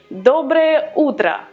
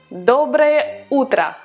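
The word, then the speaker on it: доброе утро: good evening these words are much easier to pronounce and they are also very used so to say good morning you would say dobre otra dobre otra dobra ultra to say good afternoon you would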